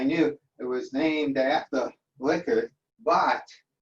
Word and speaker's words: Likert: I knew it was named after Likert, but Likert is pronounced Likert and not Likert. And what could I say? For all these years, I've been using the word Likert, but it's actually Likert.